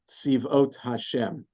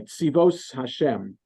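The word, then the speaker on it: צבאות השם: You know, in Chabad, I think the youth movement in Chabad is called Tzivot Hashem, but you have to pronounce it the Ashkenazi way, Tzivos Hashem.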